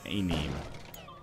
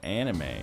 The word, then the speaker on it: anime: Actually, I have an ex-girlfriend who legitimately pronounced anime as A-name. Oh, that's just incorrect.